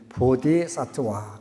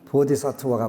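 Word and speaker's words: बोधिसत्त्व: 하냐, 원래 인도 말로는 보디사트와 그래갖고 그걸 한자로 보다 보니까 보리살타, 원래 발음은 보디사트와가 맞아요.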